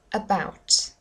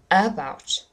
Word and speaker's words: about: about about about M here the stress is on the second syllable not the first just listen what it would sound like if it was the first syllable about about no that doesn't sound right I was about to